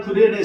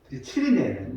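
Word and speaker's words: Cyrene: 할 때 그때 시몬이란 구레네 사람을 만나게 되는 것입니다. 키리네, 원래 발음 키리네인데 우리나라 성경 구레네로 이렇게 번역을 하고 있어요.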